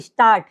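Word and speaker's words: Stadt: আপনারা হ্যা তারপর কি ডিটি যদি আমরা কোথাও ডিটি দেখি সেটার উচ্চারণ কি টর মত হবে উদাহরণ কি স্টার্ট স্টার্ট অর্থ শহর এইযে শেষে কি আছে ডিটি শেষে ডিটি তাইলে এটা কি টর মত উচ্চারিত হইতেছে যেরকম কি স্টার্ট স্টার্ট অর্থ শহর তারপর কোথায় যদি আমরা এনজি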